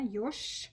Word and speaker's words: Ёж: Ёж. Ёж. And don't forget to devoice. Yeah, so the like voiced consonants at the end. Да? Ёж. Ш, ш. You see ж, but you hear sh.